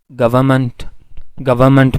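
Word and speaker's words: government: गवर्नमेंट में आमतौर पर ये एन नहीं प्रोनाउंस किया जाता, गवर्नमेंट में नहीं कहा जाता, गवर्नमेंट, ठीक है।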